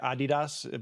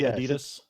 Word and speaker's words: Adidas: Isn't it supposed to be like Adidas, but we say Adidas?